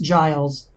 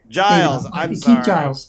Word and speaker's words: Giles: told you this before we hit recorded it's pronounced Giles Giles so that's fine no big deal um yeah